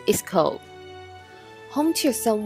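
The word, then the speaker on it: Köln: is the English and French version the German pronunciation of the city's name is Cove home to some 1 million people is one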